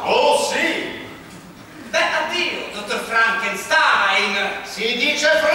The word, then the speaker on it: Frankenstein: per il Dottor Frankenstein si legge Frankenstein il mio nome si pronuncia Frankenstein se lo dice lei